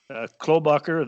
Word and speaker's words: Klobuchar: And Elizabeth Warren, Ron Biden, Amy Klobuchar, that's how you pronounce his name, and I don't know, some congressmen who are actually pretty good Democrats in a lot of ways.